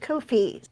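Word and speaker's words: Ko-fi: which is that's right Kofi rhyming with no fee I've only had to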